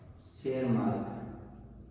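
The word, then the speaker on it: Tschermak: पहला है Karl coherence, दूसरे हैं ह्यूगो डी वेरिस, और 3 है आपका शेरमार्क। तो इसमें ये टी और ये क्या साइलेंट है, ये क्या शेरमार्क है।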